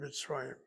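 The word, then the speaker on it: מצרים: You have CVC as the first syllable. Tzaddik has a shva under it. The shva is a shva knock. The tzaddik is blended to here before. The resh has a pata, which means zagesh chazak should follow in the yud. There isn't any, so you have the accent over the resh.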